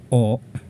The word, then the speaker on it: を: direct object object particle or object particle W this is wo W but is commonly pronounced as O Okay so first let's